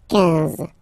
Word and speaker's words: quinze: Same thing here, huit doesn't exist, so quinze, quinze, quinze, all right? I-N, nasal, so it's un, un, quinze, quinze, okay?